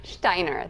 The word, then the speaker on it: Stajner: Stajner.